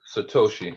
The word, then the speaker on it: Satoshi: So if you don't have 60,000 to buy one Bitcoin, you can buy what's called am I pronouncing it correct? Satoshi? Satoshi.